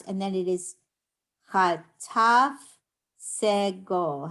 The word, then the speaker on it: segol: How do we pronounce segol? Ooh. No. Right? It says like in bed.